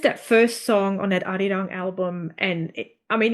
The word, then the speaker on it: Arirang: Sorry, I don't want to say say it wrong. It's Arirang.